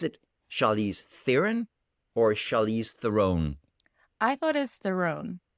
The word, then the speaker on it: Theron: by charlize theron but it's the real pronunciation pronunciation of my last name is throne which is really hard for people to say okay where is her neighbor out is french south africa south african apparently theron is the preferred mispronunciation of her name so